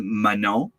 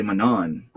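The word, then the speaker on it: Manon: English people will say Manan which I mean she's kind of used to it by now because she has a very French name but you don't pronounce the N at the end it's Mano L suberville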